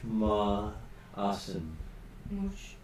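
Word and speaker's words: Münchhausen: It is Munchausen.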